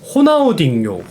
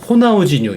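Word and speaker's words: Ronaldinho: 나중에 조금씩 조금씩 맞춰가는 겁니다네 그러면 여기 채팅에 호나우딩요 호나우지뉴 이러는데 어떤게 맞는 겁니까 제가 어렸을 때는 호나우딩요가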